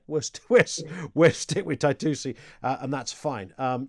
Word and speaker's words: Taitusi: all right okay worst twist we're stick with taitusi uh and that's fine um you are one